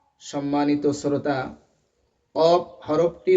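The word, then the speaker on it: قاف: যেমন আওয়াজ হয় ঠিক কফ হরফটি উচ্চারণের সময় ওরকম আওয়াজ হবে এবং কফ হরফটি জিহ্বার গোড়া থেকে উচ্চারণ হবে। কেমন যেন ক এরকম আওয়াজ মনে হবে।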